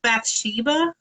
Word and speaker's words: Bathsheba: Is that how you say it? Bathsheba?